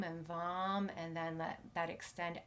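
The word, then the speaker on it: vam: will turn into the seed syllable vom v m and vom is the seed syllable or the sound that empowers our sacral chakras so this is the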